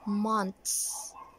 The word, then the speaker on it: months: It should be months, months.